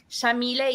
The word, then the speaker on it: Yamile: So Shamile is an Arabic name pronounced with an Argentine accent. We say the Y like an SH.